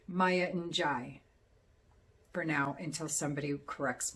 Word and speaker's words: Njie: of hers on Tropica, I looked up the last name on how to pronounce it, and all I could find was it was G, with just pronounced G with the N silent. Well, I did more research, and that was wrong. It says to pronounce it N''Jai. That's how you pronounce it.